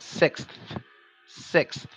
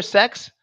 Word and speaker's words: six: teeth like this and it makes a sound six six like that sick sick now if you can't do that if you hear sex that's because you want to hear it now